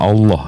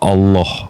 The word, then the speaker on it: Allah: l kan iya iya nah kalau double l dalam e kaidah bahasa tuh ditekan Bang Allah bukan Allah kalau Allah tuh lnya